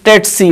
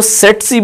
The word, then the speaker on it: tsetse: इसको सीसी बोलते हैं, कुछ लोग इसको टेट्सी बोलते हैं। अगर हम ब्रिटिश प्रोनाउंसिएशन को फॉलो कर रहे हो तो उस लिहाज से ये टेट्सी कहलाएगा। अगर हम अमेरिकन प्रोनाउंसिएशन को फॉलो कर रहे हो तो उस लिहाज से ये सीसी कहलाएगा, जबकि हमारा जो देसी सिस्टम है उसमें हम इसको सेट्सी भी बोलते हैं।